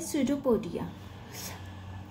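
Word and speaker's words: pseudopodia: आ पाएगा फर्स्ट है सूडो पोडिया यह बच्चों पी से स्टार्ट होता है बट पी साइलेंट रहता है चुप बैठा हुआ है पी एक कोने में और सुजो पोरिया बन जाता है इसका डिस्क्राइब करते हैं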